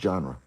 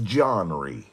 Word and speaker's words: genre: I know it's pronounced genre. But the business side is a whole another side of Johnry.